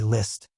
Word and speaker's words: Liszt: Come, repeat after me, Liszt. Li T. That's right, just say it like this, Liszt.